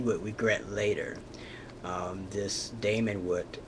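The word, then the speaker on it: daimon: Socrates had a Damon and that Damon, not pronounced demon but Damon.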